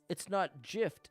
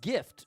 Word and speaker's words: GIF: What I'm saying is you don't pronounce gift with a J, so I pronounce GIF with a J.